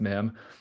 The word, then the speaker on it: mim: So the MIM was actually taken from the 24th letter of the Arabic alphabet, which is pronounced MIM.